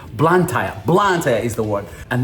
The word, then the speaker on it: Blantyre: Literally, it would take me about 2 days to what do you call Blantyre? Blantyre? I think that's how you say it. Blantyre.